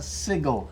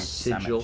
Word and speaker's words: sigil: a symbol, a sigil, anything. Hero's Sigil.